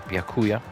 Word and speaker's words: Byakuya: Byakuya's name pronounced Byakuya.